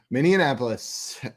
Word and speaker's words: Minneapolis: reason my brain does it really feels like there should be another syllable in that city name I shouldn't have said